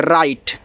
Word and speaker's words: write: WRITE, देखो IT को आइट पढ़ते हैं तो जब W के बाद आपका यहाँ पे R होता है, यानी कि R के पहले W हो तो W आपका साइलेंट होता है। जब भी W के बाद R से शुरुआत होगा तो आपका W साइलेंट होता है।